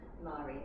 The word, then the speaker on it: Marie: names Maori became Mast which is spelled Marie I pronounce it Murray after someone in my